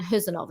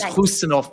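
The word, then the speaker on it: Khusanov: So tell us a little bit about Marmoush, Hayes and Huzanov as well. Yeah, great pronunciations there. And it is Husanov, I'm told.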